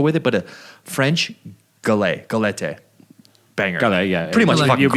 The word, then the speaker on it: galette: Had a little nice cappuccino to go with it, but a French galette.